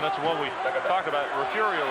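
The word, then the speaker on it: Refugio: what we talked about refurio is spelled r-e-f-u-g-i-o probably as mispronounced as any city in texas wouldn't you think i'm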